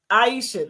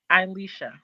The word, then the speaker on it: Alicia: Like um Aisha, did I say her name right? It's fine. What's your name? Alicia. Aisha. Alicia. Alicia. Okay, Alicia.